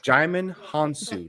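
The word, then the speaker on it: Djimon Hounsou: Jaimin Hansu. That's how you pronounce it.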